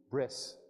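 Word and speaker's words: ברית: By the way, remember that word for covenant, brit? If you pronounce that in Ashkenazi-style Hebrew, it would be bris.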